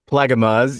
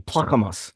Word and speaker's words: Plaggemars: All right, Technically, if you're doing it in the Dutch pronunciation, it would be Plakkemas like that.